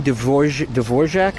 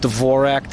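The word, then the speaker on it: Dvořák: Antonin Dvorak, I think, is how you pronounce the R with the thing on top of it. So you got the R with that thing. I think that's a zh.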